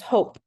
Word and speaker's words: hope: Hop. And we add the silent E, it becomes hope.